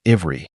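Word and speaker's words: עברי: The word for Hebrew used in the Bible is pronounced ivri, meaning of or pertaining to ever.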